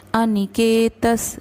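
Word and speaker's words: अनिकेतः: अनिकेतस स्थिरमतिर, अनिकेतस त के बाद विसर्ग, तो उसका उच्चारण स रहेगा।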